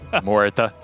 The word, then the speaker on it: Muerta: You know how much I've been coached on how to pronounce his name. Muerta.